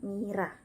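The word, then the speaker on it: Myrrha: Kemudian RR double dibaca R saja, contohnya Mira, dibaca Mira.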